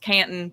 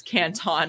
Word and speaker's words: Canton: And if you're from the South, it's pronounced Canton, but in China, it's Canton, and that's how it's spelled.